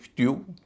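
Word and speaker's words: stew: फ की ध्वनि है एस टी ई डब्ल्यू स्ट्यू इसे टू नहीं कहेंगे स्ट्यू कहेंगे क्योंकि ई डब्ल्यू से पहले ट है और ट जो इसलिए उच्चार में शामिल नहीं है एस टी ई डब्ल्यू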